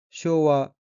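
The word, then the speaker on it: 昭和: 다음 끼는 한자가 소화 44년이고 일본어로는 쇼와 요주 요앤이라고 읽으며 여기서와는 석기 1926년부터 1989년까지의 일본 연어로서 쇼와 이치엔은 1926년이므로 쇼와 연주 요원엔 1969년이 됩니다.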